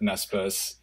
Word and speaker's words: Naspers: story too, and I'm going to mispronounce it, but Naspers. You got the pronunciation. Naspers.